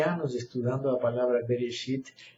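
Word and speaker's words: בראשית: Mas, essa palavra aqui escrita, resh, bet, resh, se lembrem que o hebreu se lê de direita à esquerda, tá? Resh, alef, que é mudo, shin, com o pontinho em cima, yud, tab, final.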